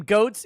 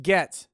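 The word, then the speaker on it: Goetz: The name Goats is pronounced Getz.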